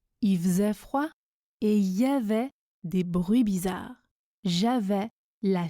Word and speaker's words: il y avait: Ensuite, il y avait se prononce y avait.